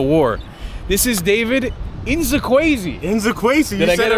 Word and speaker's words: Nzekwesi: Inzakwezi.